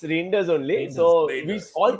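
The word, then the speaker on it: Reijnders: It's Reinders only.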